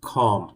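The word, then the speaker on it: comb: grinder machine বলতে পারেন তারপরে এটা কি খম না খম নয় চিরনি this is খম খম this is খম বি টা উচ্চারিত হয় না তারপরে এটা কি পাইপলাইনের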